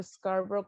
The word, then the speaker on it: Scarborough: Bueno, es como muchos, siempre digo Scarborough como la canción de Simon y Garfunkel, Scarborough Fair, pero bueno, en realidad es de origen inglés.